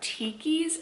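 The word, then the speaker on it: Tkees: go grab again i wear a pair of tikis sandals and it's spelled t-k-e-e-s which here i'll pop up a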